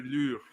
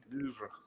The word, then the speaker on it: Louvre: That's how you pronounce it. Musée du Louvre. Louvre.